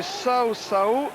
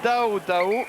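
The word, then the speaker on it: Caucau: Ça s'écrit Kao Kao. On l'a prononcé Sao Sao. Et il faut le prononcer en fidjien Dao Dao.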